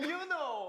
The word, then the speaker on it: Yunho: Pronounce their names. Hi, my name is Songhwa. My name is Hongjung. And Yunho.